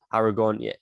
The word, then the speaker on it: Aragorn: film you know um aragon that's how you pronounce his name who has a claim to the throat aragorn he is the greatest character in this film